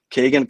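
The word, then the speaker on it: Kegan: they said is Kagan, which is such a I never heard that way of being, just doesn't even feel right. But I guess we got to try and say his name correctly. It's Kagan.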